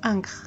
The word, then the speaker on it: Ankh: À elle seule, elle se prononce Ankh, mais elle est la plupart du temps écrite avec les phonogrammes N et Kr pour aider à sa lecture.